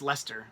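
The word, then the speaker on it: Leicester: say it Lester what oh I think it's pronounced Lester how is that wait that's how you spoke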